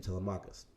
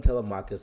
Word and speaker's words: Telemachus: problem is that he's got a son i pronounced his name to lamarcus his son telemachus is there with him so hey if i'm